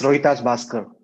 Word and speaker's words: Rohitash Bhaskar: It will be, okay, he will be Rohitash Bahaskar. Is that right? I'm pronouncing it right? Yeah, that's correct. It's Rohitash Bhaskar.